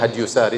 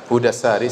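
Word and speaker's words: هدى الساري: Saya nukilkan dari kitab Hudassari, sebagian orang bacanya Hadyusari, tetapi yang benar Hudassari, sebagaimana ditashkil, diberi harokat langsung oleh Ibnu Hajar rahimahullah, penulis buku.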